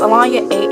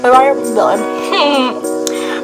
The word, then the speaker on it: Alonya: If you don't know who I am, my name is Alonya, AHLAWNYAH, but my real name is spelled Alonya, ALONYA.